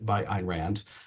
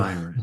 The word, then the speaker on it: Ayn Rand: have been written by Ayn Rand, but and I realize I pronounced it incorrectly. It's no, Ayn Rand.